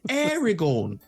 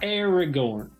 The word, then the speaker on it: Aragorn: heard of that it's happening here to find Aragon Aragorn yeah more than more than two syllables I said acorn Way Corner that's then